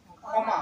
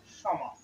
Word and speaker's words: ক্ষমা: বাংলায় বললে কি হবে ক্ষমা সমা কিন্তু যদি আমরা সংস্কৃতের নিয়মে যদি বলি সমা অর্থাৎ মূর্ধনা স এর উচ্চারণটা প্রাধান্য পাবে সমাজে শিষক শিক্ষক শিক্ষক